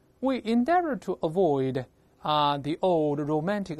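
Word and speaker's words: endeavour: 这个白颜色的还是句子主干。We endeavor to avoid, 但 endeavor 用的是英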